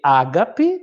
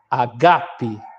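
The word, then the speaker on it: ἀγάπη: o tac no grego o assento está no segundo Alpha geralmente esse lê Ágape mais no grego está errado a tônica está no segundo Alpha a leitura fica Ágape Ok 25 pênis Terra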